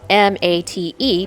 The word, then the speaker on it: mate: Mate, spelled m a t e, but pronounced mate, is the national drink of Argentina and Uruguay.